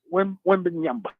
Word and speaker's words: Wembanyama: Do you know how to pronounce it? Victor Wembanyama. Wembanyama.